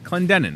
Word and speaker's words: Clendenon: say your last name clendenon of course just like it's written thank you for being